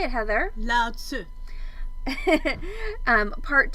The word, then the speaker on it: Lao Tzu: Lao Tzu.